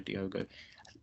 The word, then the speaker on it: Diogo: Costa or Diego Costa should say his name not Diego Diogo he's had one of